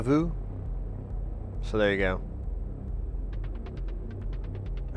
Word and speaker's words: vous: Pretty good, except we don't pronounce the S in vous.